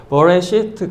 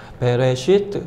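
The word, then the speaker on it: בְּרֵאשִׁית: 그래서 이제 이게 발음이 에 발음도 아니고 어 발음이 어. 그래서 이제 솔직히는 버레시트 그렇게 발음해야 되는데 이 솔직히 이게 버 발음하는 게 이게 발음을 하면 사람들이 잘 못 알아들어요. 그러니까 이스라엘 사람들은 그냥 베라고 발음합니다. 베, 베레시트.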